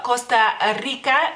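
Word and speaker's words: Kosta Rika: el mismo sonido como la c en español en algunas palabras Entonces sería Costa Rica Costa Rica no más que con la k y no Con la c y es en femenino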